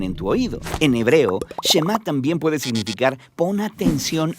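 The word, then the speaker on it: שמע: oye o escucha y en hebreo se pronuncia chema de ahí es de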